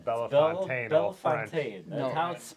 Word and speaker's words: Bellefontaine: Bell Fountain. We were saying Bellefontaine, all French.